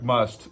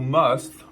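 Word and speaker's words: musth: It looks like must, but there's an H on the end of it, so I'll go with must.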